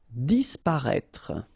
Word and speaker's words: Disparaître: Disparaître, okay? So remember that we've got this accent circonflexe on the top of I, but then phonetically we don't pronounce it, so we get disparaître, disparaître.